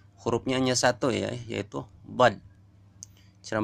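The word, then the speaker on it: ض: Kemudian kelompok yang kelima adalah kelompok zalaqiyah, pinggir lidah, yaitu keluar dari tepi pangkal lidah sebelah kanan kiri, sebelah kanan atau kiri, dan menepati gigi geraham. Nomor 8. Mana nomor 8? Hurufnya hanya satu ya, yaitu bad.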